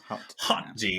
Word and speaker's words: HotD: rings of the thrones of the Dragon power Hot G as it's pronounced which I can't stop thinking of hot